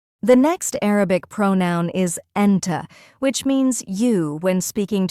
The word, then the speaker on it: أنتِ: For example, the word أنت, with a short A sound at the end, means you to a boy, but أنتِ, with a short E sound at the end, means you to a girl. So be careful with pronunciation. It really matters in Arabic.